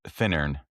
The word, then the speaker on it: Finnern: It's Finnern. Oh, no, that's wrong. That's wrong. It's Finnern. Right. 3 N's. I always say 3 N's, 2 syllables. So a lot of people say Finnern, but Finnern. And some people emphasize the Finnern. It's just Finnern.